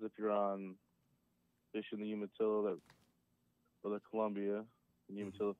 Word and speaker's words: Umatilla: I am having fun with every time you say Unatilla. Isn't that a fun word to say? Hold on. First off, you're saying it wrong. Umatilla. Yuma. Umatilla.